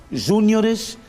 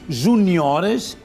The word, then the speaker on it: juniores: Não se diz no português padrão júiores, séniores, mas sim juniores e seniores.